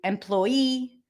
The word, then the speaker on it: employee: let's look at that when you have the E suffix like in the word employee address e referee the stresses the suffix okay so whenever you have you add the E suffix know that it gets the primary stress same thing with